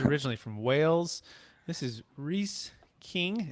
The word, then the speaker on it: Rhys: And again, it's making sure I pronounce it right. It's Rhys, right? It is. Yeah, I get called Rhys a lot. Okay, Rhys King.